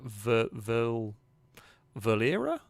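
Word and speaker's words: Verlierer: It's pronounced as uh ver valera. I guess it's probably I think the way it's supposed to go. The pun is that it's the German word for loser.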